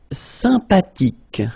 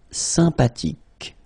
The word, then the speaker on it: sympathique: Sympathique. Remember the H. H is not pronounced. Sympathique.